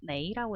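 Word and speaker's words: 没: 없을 몰자의 중국어 발음은 메이라고 읽습니다.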